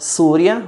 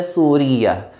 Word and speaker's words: سورية: Please note that the word Surya, which is Syria, can be pronounced in two ways. Surya, just like how it's written in the book, or with the shadda Suriya. So Surya or Suriya.